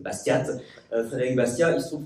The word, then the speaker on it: Bastiat: Ça s'écrit avec un T à la fin, donc pas comme la ville de Bastia en Corse, mais voilà, c'est Bastiat.